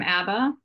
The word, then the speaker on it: Abba: I'm Abba, pronounced like the band, correct.